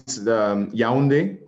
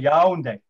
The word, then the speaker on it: Yaoundé: So where you are is Yaoundé. That's okay. The capital city. Yes. That's how you pronounce it, Yaoundé.